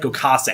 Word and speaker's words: Gokase: Anyone want to pronounce this? Gokase.